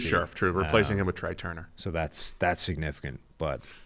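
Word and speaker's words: Trai Turner: true replacing him with tri turner so that's that's significant but some people some people pronounce it try turner yeah some people some people do incorrectly but incorrectly uh the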